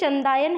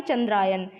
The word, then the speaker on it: चंदायन: तो फ्रेंड्स ये जो क्वेश्चन है ये चंदायन है, ना कि चंद्रायन। ये मेरे प्रोनाउंसिएशन में मिस्टेक हो गई थी, मैंने गलत प्रोनाउंस कर दिया था, ये वर्ड चंद्रायन बोल दिया था, जिसकी जगह ये चंद्रायन नहीं चंदायन है।